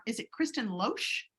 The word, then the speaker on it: Loesch: If I'm getting your last name wrong, is it Kristen Loesch? It's Kristen Loesch.